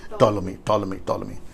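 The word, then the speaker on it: Ptolemy: दरअसल सेलेकस और टोलोमी, right pronunciation, टोलोमी, सेलेकस और टोलोमी के बीच में यरूशलेम है।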